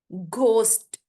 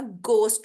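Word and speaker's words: ghost: घोस्ट, घोस्ट नहीं होता, गोस्ट होता है। ये एच साइलेंट होगा, घोस्ट नहीं बोलेंगे, गोस्ट बोलेंगे।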